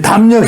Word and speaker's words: 담력: 리을만 어떻게 바뀌어요? 니은으로 바뀌어요. 마음은 안 변하죠. 니은만 탁 담력으로 됩니다.